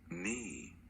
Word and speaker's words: knee: The letter W in front of the R is silent, the letter K in front of the N is silent, and the letter G in front of the N is silent. So you're only gonna say the second sound for these two letters.